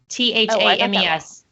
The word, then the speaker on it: Thames: that one wrong oh and the River Thames t-h-a-m-e-s in London it's the River Thames don't get it twisted my kids hate when